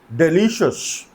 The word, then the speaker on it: delicious: Next है डिलीशियस. डिलीशियस, इसको डिलीशियस नहीं बोलते, इसको बोलते हैं डिलीशियस. ये शस प्रोनाउंस होता है.